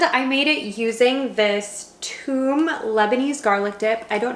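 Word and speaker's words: toum: pasta alfredo and i made it using this tomb lebanese garlic dip i don't know if you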